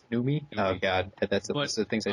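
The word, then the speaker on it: Noomi: interview questions with fast bender and uh God Naomi is that the correct pronunciation numi oh God that's things I said saying I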